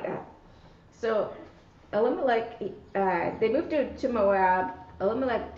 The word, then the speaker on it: Elimelech: Oh, Elimelech.